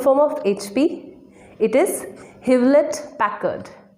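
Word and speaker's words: Hewlett-Packard: know the full form of hp it is hivlet packard havelit packard american company computers or laptops look at our next brand casey pronounced adobe no it's not adobe the correct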